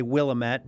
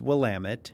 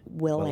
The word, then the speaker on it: Willamette: Oregon one again because I think I always mispronounce it? The Willamette Valley. Willamette. Many people would want to say Willamette, but it's Willamette. Willamette.